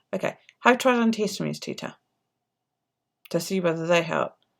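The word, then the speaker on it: Teeta: Is it Teta or Tata? Which do you prefer? T-E-E-T-A as in Tita, or Tata? T-A-T-A. Have you tried antihistamines? Tita. Right, Tita. Okay. Have you tried antihistamines, Tita?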